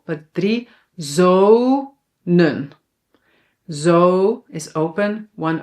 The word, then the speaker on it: zonen: Manen, reden, zonen. So when a syllable is open, it ends on a vowel, then the vowel is pronounced long, but we only need to write one.